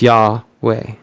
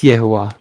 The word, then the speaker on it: Yehovah: The mantra for the first pentagram is Yahweh. Yehovah. Yehovah. Yehovah. It's Yehovah. I'm sorry. Forgive me. Yehovah.